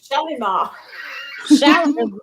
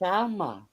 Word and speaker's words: Shalma: I've been calling her Shalimar. The Y is silent. Oh. The Y is silent, so it's Shalma.